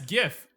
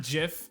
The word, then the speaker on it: GIF: pronunciation gift no yes gif it is gif alright not jiff alright this isn't this isn't peanut butter all right it's gif gif gif gif as what it